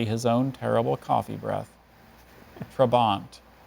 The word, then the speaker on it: trabant: own terrible coffee breath trabant trabont that first vowel sounds a schwa watch out could be anything on the alphabet trabont um trabant trabont